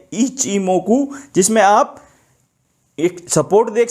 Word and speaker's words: Ichimoku: काफी लोग इसको इची इची ये कहते हैं। इसका सही प्रोनाउंसिएशन है ईच ई मोकु। इसको ऐसे बोला जाता है इच इमोकु।